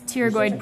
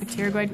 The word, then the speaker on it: pterygoid: Then we have it's pterygoid process, but with a silent P at the beginning. So pterygoid process, your mandibular fossa, foramen spinosum, foramen ovale, and foramen lacerum.